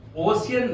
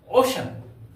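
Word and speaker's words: ocean: सी इ ए एन प्यारे बच्चों कभी भी इसका उच्चारण ओसन नहीं पढ़िए ओ इ ए एन उसको उच्चारण होगा ओशन ओशन ओशन ध्यान दीजिएगा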